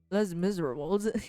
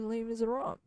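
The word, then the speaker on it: Les Misérables: It's actually not lame. Les Miserables. It's actually Les Miserables.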